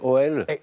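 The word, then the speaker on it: Auel: Oui, mais je ne sais pas si je vais bien prononcer OL. Oui, c'est bien, Howell, c'est ça, exactement.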